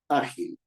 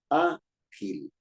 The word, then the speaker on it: ágil: porque termina en vocal la palabra ágil ágil que una persona ágil tiene dos sílabas a Gil y es una palabra grave porque la fuerza de voz está en a es cierto o no